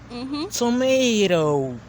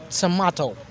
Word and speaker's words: tomato: Uh in American English they say tomato. Tomato like they have a a there while British we say tomato.